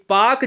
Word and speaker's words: Palk: है, यह पाक जलसंधि PALK को हम पाक कहते हैं, ठीक है ना, इसमें यल साइलेंट होता है।